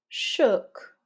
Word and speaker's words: shook: So not ooh like in you, but almost like that neutral schwa. So practice it with me. Put, could, shook.